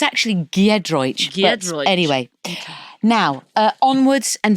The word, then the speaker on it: Giedroyc: Did I just get your name wrong? You slightly did, but it doesn't matter. That will Giedroyc Giedroyc Giedroyc Giedroyc What's the I doing there then?